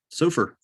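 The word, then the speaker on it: Sofaer: so far oh okay s-o-f-a-e-r how do you say that surfer sure played dr stillman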